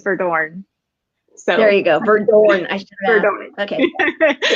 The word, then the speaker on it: Verdoorn: So there you go, Verdoorn. I should have. Verdoorn. Okay. That's how you pronounce it.